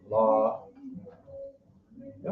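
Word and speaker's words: לוי: right Levi and to pronounce their name in Hebrew as law yeah all right Levi his law yeah all right and here's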